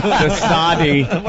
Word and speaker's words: de Sade: De Sade. You pronounced the E. Yeah. It's de Sade.